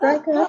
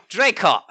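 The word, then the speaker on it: Draycott: Not Drycott. It's Drycott.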